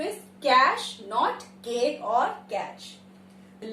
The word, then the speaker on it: cache: और हम उसको बोलते कैसे हैं? कैच या केक. नॉर्मली इस वर्ड को या तो मैंने कैच सुना है या केक. केक क्लियर कर दो. No, that is wrong English. The correct pronunciation of the word is कैश.